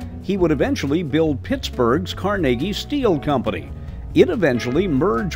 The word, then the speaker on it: Carnegie: Carnegie, who actually pronounced his name Carnegie, was a Scottish-American industrialist who spearheaded the advance of the American steel industry.